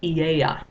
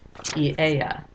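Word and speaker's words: Aeaea: This is pronounced Eieia. Let me just fix that A there. Eieia is the home of Circe.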